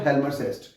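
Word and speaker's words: Hjalmar Schacht: Germany के एक economist थे, उनका नाम था हेल्मर सेस्ट। क्या नाम था? हेल्मर। देखिए इनकी स्पेलिंग थोड़ी इस टाइप से है, HGALMER, हेल्मर, हेल्मर SCACHT, सेस्ट, ऐसे करके है।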